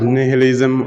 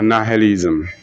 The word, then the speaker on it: nihilism: You can pronounce it nihilism or nihilism.